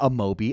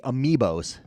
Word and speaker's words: amiibo: remember this one the first not Amobi amiibos I don't know why I'm mispronouncing him amiibo sorry I'm an idiot